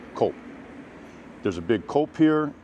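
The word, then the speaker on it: Coop: it is not pronounced Coupe I I've asked many many many of my Italian friends it is pronounced cop just like cappuccino o cop there's a big cul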